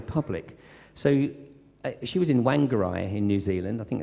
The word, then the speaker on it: Whangarei: So she was in Whangarei in New Zealand. I think that's how you pronounce it. And how'd you say it? Whangarei, yeah, that'll work.